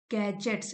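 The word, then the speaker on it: gadgets: Grow up surrounded by गैजेट्स गैजेट्स D silent है एंड and virtual friendships.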